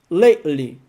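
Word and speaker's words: lately: terminei esse livro ultimamente lakely repara como você não pronuncia esse t e simplesmente lei lei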